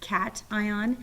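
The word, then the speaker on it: cation: ions and negative ions this word is pronounced cat ion and to help you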